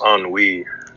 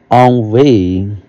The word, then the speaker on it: ennui: I think it's ennui. Ennui. It means boredom. Oh, boredom. Okay. Ennui. So, yes, you're right. Which breed in them ennui rather than longing.